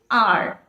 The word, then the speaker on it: hour: An R, well, the word R starts with H, H-O-U-R-R, but the pronunciation is not hour, right? The pronunciation is not hour, it is R. The pronunciation is as that of a vowel, Therefore, we have to make use of an.